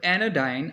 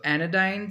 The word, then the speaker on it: anodyne: So anodyne sounds like sensodyne.